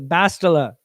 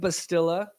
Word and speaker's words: Bastila: I got it right off the Bastila. But it looks like Bastilla. To a Canadian, they would just say Bastilla.